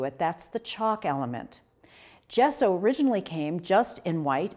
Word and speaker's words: gesso: gesso is spelled with a g it's not pronounced gesso they'll laugh at you if you ask for the gesso it is gesso it's an italian word that means chalk so